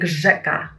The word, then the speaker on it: rzeka: And the last one is Ż, R-Z, Ż, like rzeka, river in Polish, rzeka, Ż.